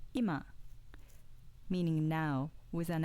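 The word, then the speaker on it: 今: pitch accent compare hashi hashi hashi example 2 ima meaning now with an accent on the first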